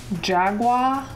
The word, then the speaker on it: Jagua: Hey guys, my name is and welcome to Piece of, where today we're playing super Jagua, like Jaguar but without an R.